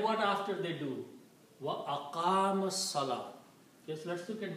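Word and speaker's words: أقام: So this waw with the fatha is pronounced as alif. So this becomes aqama.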